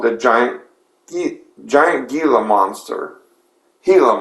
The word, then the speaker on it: Gila: Gila Monster, but the G is silent.